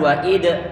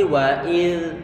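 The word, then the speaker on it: وإذ: Hati-hati jangan sampai nanti diberikan qala-qala pada huruf dzal ini, jangan diucapkan sebagai huruf dzal. Jangan wa id tapi wa iz, ayo.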